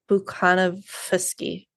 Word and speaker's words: Bukhanovsky: A lot of the V's you're supposed to pronounce as F. Bukhanovsky.